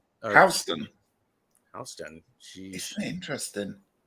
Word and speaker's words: Houston: Houston is pronounced Houston.